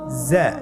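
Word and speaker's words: زاي: উচ্চারণ করার সময় অবশ্যই এক আলিফ টেনে পড়তে হবে, এক আলিফ টেনে পড়তে হবে। হরফটি বারিক হরফ, এই জন্যে পাতলা করে উচ্চারণ করতে হবে। জা হরফটির মাখরাজ আপনারা দেখতে পাচ্ছেন, জিহ্বার আগা সামনের নিচের 2 দাঁতের পেট ও আগার সঙ্গে লাগিয়ে উচ্চারিত হয়।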